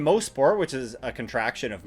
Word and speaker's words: Mosport: On to the track now in good old Mosport. And yes, indeed, it is pronounced Mosport, not Mosport, and yes, many people still do